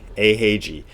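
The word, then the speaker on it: Eiheiji: Dogon so a is whenever you see an e followed by an i it is a the reason this is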